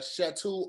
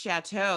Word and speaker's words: chateau: um the one that's called uh shatu on time i don't know if you would like that no because it's pronounced chateau you don't have to here